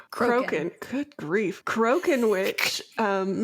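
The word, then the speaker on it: Crochan: as we heard the cokan I mispronounce that every single time croen good grief croen witch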